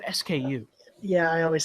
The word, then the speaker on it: SKU: switch is it okay some people say sko do you know if it's like is that is that a proper way to pronounce it or because I've always said SKU yeah I always say